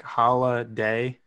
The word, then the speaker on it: Holladay: Yeah, so it's funny because I've told people it's like Holladay. So it's Holladay. So it's like holiday.